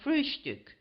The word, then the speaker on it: Frühstück: of the word breakfast, but always call it Frühstück, with a special emphasis on the first syllable.